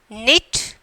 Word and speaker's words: knit: the words they have given, you have to pronounce like that. Understand? So here knit, talking, fastening.